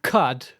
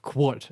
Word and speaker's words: Qud: by the developers and they always say caves of cut and not caves of quot as I have previously said so now I'm trying to correct myself cuz surely that is the correct pronunciation count yeah we'll get